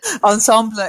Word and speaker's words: ensemble: D ensemble handle assembly ensemble is fine as well but it's just no frog I that is like weaseling and riesling yes so ensemble is what you'll probably hear but you will hear ensemble especially from people who know French well when people know French